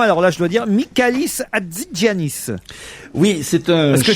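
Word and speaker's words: Michalis Hatzigiannis: Alors là, je dois dire Mikalis Adzanis. Oui, c'est un Est-ce que je prononce bien d'abord ?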